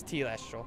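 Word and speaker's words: telestial: I want to know T Lester all not tell Esther oh yeah it's t last role thank you I should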